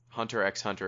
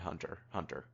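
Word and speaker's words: Hunter × Hunter: semantic question you don't you don't pronounce the x in the title i've always said hunter x on her i've said both hunter x hunter and hunter hunter i think when they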